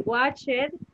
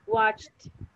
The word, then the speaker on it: watched: So you don't say watch it, but you say watched. Watched. The other one. Washed. Make the sound of the letter T at the end.